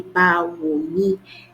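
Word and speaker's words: Báwo ni: But for now, even using the pronunciation, you're able to say Bawoni, and then you're speaking Yoruba.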